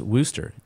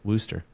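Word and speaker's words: Worcester: in Freedom land but it's Worster you know that's a town in England and they pronounce it Worster isn't that how they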